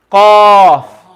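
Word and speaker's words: ق: the strength as well everyone say with me cough say after me cough cough oh good exactly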